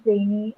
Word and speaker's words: trainee: So Ria in career and E in trainee are the syllables that are stressed.